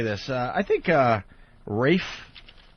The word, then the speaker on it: Ralph: I think uh Rafe even though his name is spelled Ralph. Yeah, Ralph Fiennes. It's Rafe.